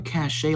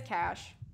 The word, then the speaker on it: cachet: Yeah, I think it is cash. I always pronounce it cachet, but I've heard it again both ways. It made me feel bad when I said cash, so I'm just gonna say cachet.